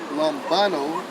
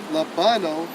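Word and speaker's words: λαμβάνω: I received is Strong's G 2983, pronounced as lambano, lambano, and it means to take with the hand, lay hold of any person or thing in order to use it.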